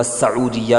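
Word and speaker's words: سعودية: اکدت سعودیت، سعودیہ سین کے پیش کے ساتھ زیادہ صحیح ہے. تلفظ میں کئی مرتبہ سعودیہ بھی بول دیا جاتا ہے. اردو میں سعودی عرب ہی کہتے ہیں، مگر عربی میں سعودیہ یہ صحیح لفظ ہے.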